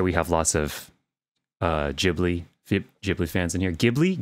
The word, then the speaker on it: Ghibli: go with it all hard g g ghibli right is that correct okay ghibli all right i think